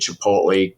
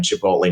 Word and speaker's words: Chipotle: we did Chipotle corn we were early on Chipotle nobody could say it including our own staff I'd walk through the office and hear Chipotle chiple I'm like oh my God we can't pronounce our own product uh then when you